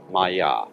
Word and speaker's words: Maya: Pronounced Maya.